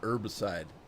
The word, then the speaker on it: herbicide: to do it more in america we the the h is silent we call it herbicide oh god let's see